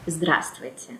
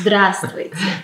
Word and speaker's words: здравствуйте: audience, it's just like, здравствуйте. Yeah, say that slowly. Yes, здравствуйте. That has too many consonants all in a row. And again, здравствуйте, it's a short version from здравия желаю.